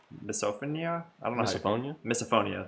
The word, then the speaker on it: misophonia: I don't know misophonia misophonia that's how I pronounced it cuz like phobia but phone cuz it's like not a visual thing it's an audible thing uh often report that